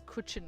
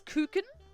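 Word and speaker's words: Kuchen: not very I've only I only read it as kutchen because it's ch and I I speak English so um but apparently it's cin which is interesting apparently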